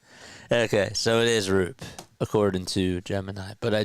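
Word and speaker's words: Roupp: The last name RP is pronounced like the word soup. Okay. So, it is RP according to Gemini.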